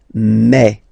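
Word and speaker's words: mes: Okay, so for the phonetical or pronunciation aspect of it, then remember that this es here combined will give you the sound e. Okay, so you'll pronounce it like me, me, me.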